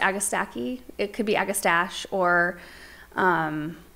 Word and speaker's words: Agastache: We pronounce it Agastache.